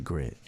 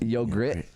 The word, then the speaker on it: YOGRRTT: I thought you pronounced it grit. Grit, yogurt. Yogurt. That's dope, like yogurt.